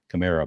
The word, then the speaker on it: Kamara: It's like Camaro. So I've always remembered it as being Kamara, but now apparently just doesn't even matter how you pronounce it.